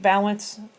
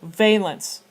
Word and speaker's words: valence: you're looking at eight balance eight valence electrons I apologize with the balance I was told that's how it was pronounced and now the book is pronouncing it differently so valence electrons because we are